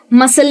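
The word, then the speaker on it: muscle: लेकिन फ़र्क सिर्फ इतना है कि अगर ये जो सी है ये एस के बाद आता है तो वो हो जाता है साइलेंट। यानी कि जैसे मसल में आया या सीन में आया या सेंट में आया, तो आप ध्यान से देखेंगे तो हम साउंड जो है ना वो स का ही यूज़ कर रहे हैं।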